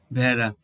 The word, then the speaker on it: ভেড়া: এবার উদাহরণ হিসেবে দেখো, এটি কি, এটি কি ভেড়া না ভেড়া? আমরা কিন্তু জফলা আকার দিয়ে উচ্চারণ করি, আমরা বলি ভেড়া।